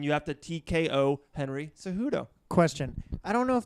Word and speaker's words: Cejudo: If the fighters in a title fight this weekend, you got DJ versus Henry Cejudo.